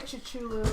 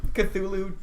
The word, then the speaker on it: Cthulhu: How do you pronounce that Cthulhu. word? Go That. for it. Well, Tom would know better. Is it Cthulhu? Good job. Yeah. Yeah. Cthulhu. I think it's I'm Cthulhu. still gonna say Chichulu.